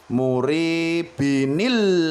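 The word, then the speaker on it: مريب: Nah, sahabat Quran yang dirahmati Allah, di sini saya berikan contoh ada ayat muribin ya, muribin. Karena di sini dia adalah di akhir ayat, maka membacanya murib.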